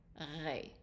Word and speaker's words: ré: The E with an accent is A, so that is ré.